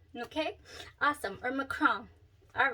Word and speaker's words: macaron: peach prosecco chrome okay it's not macaron it's macron okay awesome or macron all right so uh